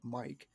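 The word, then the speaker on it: Miike: I looked it looked it up online and it says he pronounces it like Mike. So, I'm going to call him Tekashi Mike, but they might be Mik.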